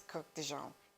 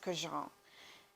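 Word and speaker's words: Kurkdjian: It's not Francis Kirk de Jean. It's Francis Jean.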